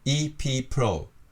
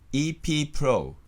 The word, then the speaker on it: EP Pro: EP Pro。で、 3 拍で言います。 EP Pro。